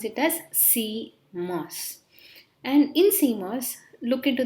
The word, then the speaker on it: CMOS: o s together called as c mos we pronounce it as c mass and in cmos look into the term it